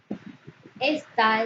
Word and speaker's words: está: Se pronuncia con mayor intensidad en su última sílaba, es una palabra aguda. Al terminar en una vocal, debe tildarse la A.